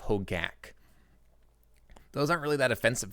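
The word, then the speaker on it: Hogaak: I know I have one moderator of the stream, Jenstakov, who hates when people mispronounce Bogles, when they say Boggles instead, or when they say Hojak instead of Hogak.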